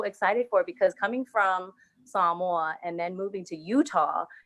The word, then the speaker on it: Samoa: you're saying it wrong he said oh you mean samoa and i'm like no i mean samoa but okay and then